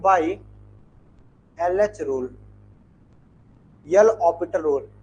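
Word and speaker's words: L'Hôpital: बाई LH rule, L ऑपिटल rule. Spelling वही होती है हॉस्पिटल वाली, लेकिन उसे हम ऑपिटल पढ़ते हैं, है ना।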